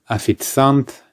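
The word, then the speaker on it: официант: waiter actually will be afitzant or afitzantka for a waitress just be careful the spelling is not the same as the pronunciation we do not pronounce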